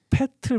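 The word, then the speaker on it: Pöltl: 읽을 때 그러니까 얘가 퍼틀 막 이런 될 수 있습니다. 정확히 읽으려면 아마 패틀 뭐 이런 식으로 읽어야 될 텐데 그러니까 미국 애들도 그 발음이 안 되는 발음이거든요.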